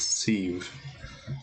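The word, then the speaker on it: Siobhan: Because Sadhubv is pronounced Sieve. Okay. Sieve.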